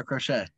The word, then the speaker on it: Crochet: him yeah that's funny it's not how you say his name you already according to max apparently how do you say his name scary crochet max say his name yeah crochet no